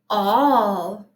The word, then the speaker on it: all: might know this word a-l-l spells all it's tricky because the a is making a a short o sound but that's not how we pronounce it the word is all we all went to